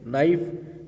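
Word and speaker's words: knife: नाइफ, यहाँ पर भी के साइलेंट है।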